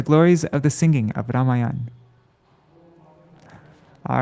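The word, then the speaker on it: Rāmāyaṇa: message and yes so for the proper pronunciation of um i think it's ramayana ramayana but in the west times we say lots of times devotees say ramyan or rameon but it's actually ramayana right anybody can correct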